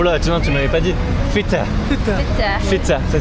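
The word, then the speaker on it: Fettah: Feta. Feta. Ça s'écrit comment?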